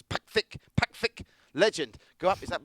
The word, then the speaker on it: Pakcik: Maybe it's the pronunciation. It's Pakcik. Pakcik.